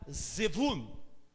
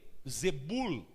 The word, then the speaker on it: Zevul: uma quarta camada dimensional, chamada Zevul, ou também Zebul, dependendo da pronúncia, porque o V e o B, como no espanhol, no hebraico, você encontra o V pronunciado como B e o B pronunciado como V. Então, alguns vão falar Zevul, outros vão falar Zebul.